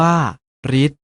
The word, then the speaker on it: ฤทธิ์: ต่อ ไป นี้ เช่น ฤทธิ์ ออก เสียง ว่า รีส ทฤษดี ออก เสียง ว่า